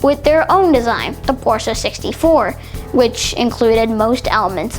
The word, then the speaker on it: Porsche: It's commonly mispronounced as Porsche, but it's actually pronounced Porsche.